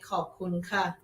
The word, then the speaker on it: ขอบคุณค่ะ: ขอบคุณครับ ขอบคุณครับ For guys say ขอบคุณครับ For girls say ขอบคุณค่ะ ขอบคุณค่ะ Yes. Guys say cup and women say ka.